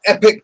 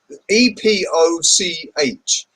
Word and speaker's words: Epoch: spelled e p z e p o c h it's Epoch the epoch times why does everybody Call It The Epic Times when it's the epoch times that really bugs me it's Epoch not Epic oh anyway